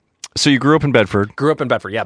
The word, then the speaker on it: Bedford: There's no D's in Bedford, just so you know. It's Bedford. Bedford. Oh, no D's. No D's. I was going to not pronounce the D of bed.